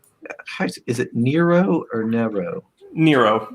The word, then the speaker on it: Nero: Nero rhymes with hero.